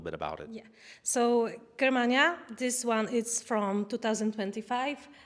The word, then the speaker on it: Germania: this in English-speaking countries, I know we tend to say Germania, but if we're talking about the actual Roman Latin pronunciation, it should be Germania.